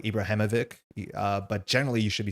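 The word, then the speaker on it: Ibrahimović: of their name, like Ibrahimovic. That is generally pronounced ich instead of ik. A lot of people do say ik, like Ibrahimovic, but generally you should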